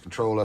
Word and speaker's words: CTRLR: I believe that's just supposed to be pronounced controller, so we're just going to call it controller moving forward.